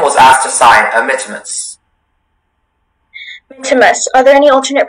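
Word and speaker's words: mittimus: Mitimus.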